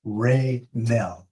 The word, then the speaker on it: Renell: David, it's pronounced Raynell.